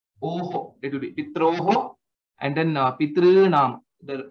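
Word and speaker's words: पितॄणाम्: Similarly, Tr, Tr, so it is not three or through. Okay, it is somewhere in between. I mean, if you want to see that way. Pitrinam. That's how the pronunciation will be.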